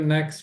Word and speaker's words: next: Esse next aqui vocês podem falar com um sonzinho de T bem sutil, next, ou então pode tirá-lo totalmente aí na pronúncia, né? See you next week. Fica até mais fácil, né? See you next week. Ou então, see you next week, mas bem sutilzinho.